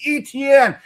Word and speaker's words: Etienne: offense and a quarterback who doesn't have Travis Etienne to lean on here. I don't know why I keep bringing up his name. I can never pronounce it properly. It's Etienne.